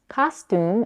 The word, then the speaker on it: costume: difference in the vowels costume is pronounced as Ka stun the first vowel ah is the same as in the word father while the second piercing